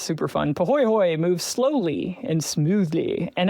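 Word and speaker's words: pāhoehoe: It's called pahoehoe, and it's Pahoehoe, and it's pronounced pahoehoe. I absolutely love saying that word. It's super fun. Pahoehoe moves slowly and smoothly,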